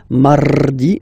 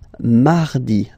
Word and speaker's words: mardi: You don't move your tongue, so it doesn't sound like mardi, no. It's really soft, mardi, mardi, mardi, okay?